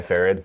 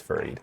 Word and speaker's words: Farid: used to go by farad uh and I only did that because it was I felt like it was easier for people to say right like Jared except with an F right yeah and uh